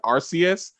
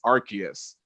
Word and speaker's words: Arceus: Yeah, I said Arceus, but then I heard I was like, oh, sorry, it's Arceus. My bad.